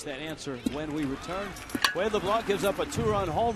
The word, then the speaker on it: LeBlanc: Adeni Etavaria is the short stop and Wayade LeBlanc. You have to go from a Cuban to the French pronunciation there in the eight and N spot.